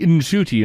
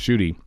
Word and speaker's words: Ncuti: And Gatwa said that, Millie asked, how do you pronounce Ncuti? And he says, it's actually Ncuti. Now, I'm trying to say that now because we've convinced ourselves that it's just Shooty.